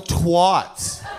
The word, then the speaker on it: twat: It rhymes with hat, it rhymes with cat.